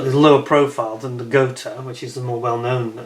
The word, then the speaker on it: Gotha: People pronounce it Gotha, it's Gotha.